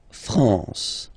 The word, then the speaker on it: France: A-N here, nasal en. La France.